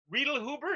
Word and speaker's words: Reidlhuber: to say your last name you know why Rita Huber is that how you pronounce a help you did it that's dead-on